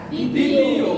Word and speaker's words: দ্বিতীয়: দ্বিতীয়। কি লিখলাম? দ্বিতীয়। কি লিখলাম? দ্বিতীয়, তাই না? মানে আমরা জানি যে বর্ণের শুরুতে আসছে এই জন্য বফলার উচ্চারণ হবে না, বফলার উচ্চারণ হবে না, যে বফলার উচ্চারণ হবে না।